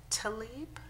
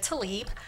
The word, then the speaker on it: Talib: written request is from Talib did I pronounce it correct okay um actually I'm here as an attorney for the sugar law Center my name is to leap I'm you know I